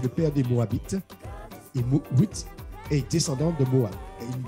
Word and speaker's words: Ruth: C'est Ruth, parce que le U, ça prononce OU en hébreu.